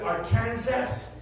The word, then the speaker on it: Arkansas: Como el estado de Arkansas, se escribe Arkansas, se pronuncia Arkansas.